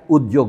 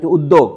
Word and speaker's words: উদ্যোগ: বাংলা উচ্চারণ উদ্যোগ। কেন? কোনো অক্ষরের সাথে যখন আপনার এই জফলাটা বসবে তখন, অর্থাৎ যুক্ত অক্ষর হলো, দ জয় হলো, বাংলা নিয়ম হচ্ছে এইটাই। এটা যুক্ত অক্ষর, তখন উচ্চারণ হবে দ জ।